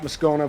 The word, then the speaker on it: Moscona: All right, welcome back with Moscona from Locked On LSU. And I am going to get the pronunciation of your name correctly eventually.